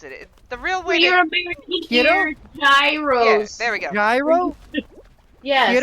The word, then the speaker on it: Gyros: does I you know I just had a judo the other day that is it's it's I can't pronounce it the real word computer Gyros there we go yeah you know it's it's Hiro by the way okay well it's delicious so